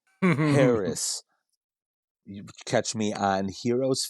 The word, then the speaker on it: Haracz: all the socias and my last name is spelled just like it sounds Harris h A R A CZ Harris you catch me on